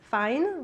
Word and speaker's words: Fein: you know me and my last name is fine but it's spelled fain and when i came